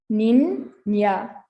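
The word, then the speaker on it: niña: of that word so that word is spelled and is pronounced nina i hope that makes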